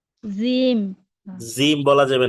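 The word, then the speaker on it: ج: জিম। জিম বলা যাবে না। জিম হচ্ছে শক্তভাবে উচ্চারণ করতে হবে, শক্তভাবে।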